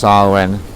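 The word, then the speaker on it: Samhain: this is the first of november this is sarwen spelt champagne pronounced sarwin it's this time of year of big changes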